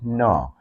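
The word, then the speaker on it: gnaw: to make you understand g n a w no g n a w g n a w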